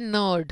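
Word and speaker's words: knot: है अब चलो तो सबसे पहला व है नोट क्या बोलते हैं हम इसको स्पेलिंग बेल्ट करते हैं एन सी आर डी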